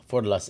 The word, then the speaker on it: Forlas: Oh, Forlas is the way I should pronounce it.